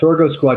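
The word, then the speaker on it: Sorgo Squad: it definitely does so tell us about the Soro Squad am I pronouncing that right yeah Soro Squad remember I said sorgo is what they call sorghum in in Europe right yeah so listen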